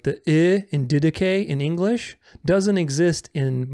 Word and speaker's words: Didache: So it's not didache, because di doesn't exist in English.